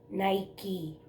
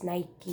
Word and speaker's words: Nike: Nike shoes Nike well ang tawag nila dito sa pronunciation is Nike hindi Nike but it's up to